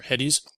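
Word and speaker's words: Hettes: I believe his name is pronounced Hetz or Heddies.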